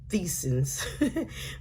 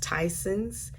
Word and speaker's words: Tyson's: Some people call it Theson's, but it's pronounced Tyson's.